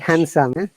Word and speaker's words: handsome: handsome. Handsome. Oh, Sandwich. In these two words, D are always silent.